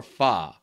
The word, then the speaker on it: pho: And is it pho or fa? Pho, I believe. I think it's pho. It's spelled P-H-O, I know that.